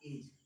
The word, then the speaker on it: edge: For example जैसे मैंने कहा एज, यहाँ पर डी क्या है, साइलेंट है।